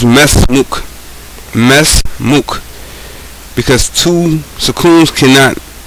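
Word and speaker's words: ما اسمك: That's why if you see it written, it will look like you're saying ma ismuk, but actually it's mesmuk.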